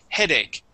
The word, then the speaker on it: headache: uh the uh um the short e instead of ha ha dick ha it is he headache gave me a headache